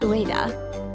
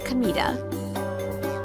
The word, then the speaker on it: Kamita: My name isn't Ua. It's Kamita. The same kanji but read differently.